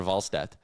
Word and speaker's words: Wallstedt: And I like that Jack was using the good, proper European pronunciation. Is that what he was doing? Yeah, he was calling him Jesper Wallstedt.